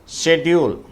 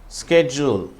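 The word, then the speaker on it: schedule: 1574 ஷெட்யூல். British உச்சரிப்பு ஷெட்யூல், அமெரிக்கர்களுடைய உச்சரிப்பு ஸ்கெட்யூல்.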